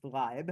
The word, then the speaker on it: Leib: So this failure to recognize I believe it's pronounced Leib. Leib, sorry. Leib. So Leib is German for life.